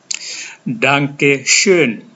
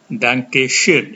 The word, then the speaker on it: Danke schön: Kalian ucapkan ini Danke schön. Danke schön. Ini ada SCH dibaca seperti huruf S yang berdesis sh, bukan S biasa tapi ada desisnya.